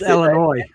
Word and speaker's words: Illinois: It's Illinois. Well, whatever. The S is silent, like the P in swimming.